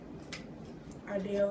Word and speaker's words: Ardell: Ardell rhymes with Chanel.